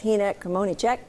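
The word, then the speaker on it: Hynek Kmoníček: Hynek Kmonicek is visiting Memphis as a part of Memphis in May, and I hope I didn't start an international incident with your name.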